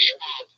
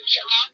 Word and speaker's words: Schwab: Don't say Schwab. Am I saying it wrong? Yes, it's Brendan Schwab. It's Schwab.